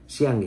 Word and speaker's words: সিয়াং: China তিব্বতে একটি বিশাল ড্যাম বাঁধ তৈরি করেছে এবং সেটা রিটেলিটরি হিসাবে ভারতও সিং নদীর উপরে সিয়াং একটা উচ্চারণ করা আমার জন্য ডিফিকাল্ট, সিয়াঙ্গি হবে ওটা উচ্চারণটা।